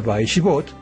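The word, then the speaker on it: וישבת: Dice, y descansó, es decir, esto se pronuncia Vaishbot en el séptimo día, ¿no?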